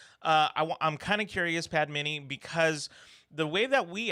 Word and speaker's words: Padmini: yeah so hey everybody my name is padmini and it's pronounced padmini but it doesn't really